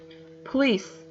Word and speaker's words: police: Police, police, police. The stress in the ending.